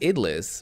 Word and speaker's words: idlis: also going to learn with me how to pronounce that word idlis idlis okay now we know idlis it's just idlis very easy it will take me too long